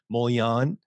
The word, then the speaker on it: Mollion: name last name correctly molion okay perfect all right that's awesome it's a french name so in france there